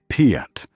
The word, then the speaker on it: PIAT: The projector, infantry, anti-tank, quickly shortened to Piet, pronounced Piet, emerged from testing in late 1942, resembling no weapon anyone had encountered.